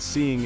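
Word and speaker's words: Ceaing: And Seeing is spelled C-E-A-I-N-G. Instead of seeing like with an S, it's with a C as in Charlie.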